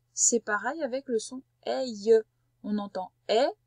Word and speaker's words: aïe: C'est pour ça qu'on entend aïe. Et pourtant, ça ressemble beaucoup à l'aile de l'oiseau, je suis d'accord. Mais ça ne se prononce pas pareil.